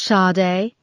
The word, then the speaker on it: Sade: "Hi, are you Sada Pence?" asked Peterson. "It's pronounced Sade," said the girl, disinterested, her eyes not leaving the computer screen.